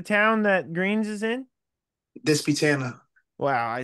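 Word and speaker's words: Disputanta: Hopewell, which is approximately about 15 minutes from Dispatana, which is where Greene's is located. Okay, so you live in Virginia? Yes, sir. Okay, gotcha. And how do you say the town that Greene's is in? Dispatana.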